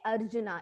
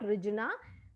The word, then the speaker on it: Arjuna: see here an apostrophe, if some apostrophe is there, it is called A. Okay, Arjuna. It's not Rijuna. It is silent, but it is A.